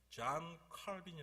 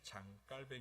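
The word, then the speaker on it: Jean Calvin: 유명하신 분이 프랑스에도 되더라구요 옛날에는 영어식으로 이 좐 칼빈이 라고 했는데 캐빈 저항 킬 b 라고 하는거 싫어 하구요 프랑스 발음으로 프랑스 말이에요 그냥 컴백 으 제가 잘 쉬기 때문에 프랑스 발음으로 잠 깔 밴 이라고 합니다 2 좀비 격자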